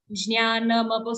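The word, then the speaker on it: ज्ञानम्: Jnanam.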